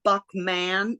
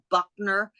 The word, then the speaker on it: Buckman: I do this and you mispronounce my name it's Buckman not Buckner Buckman Buckman I'll never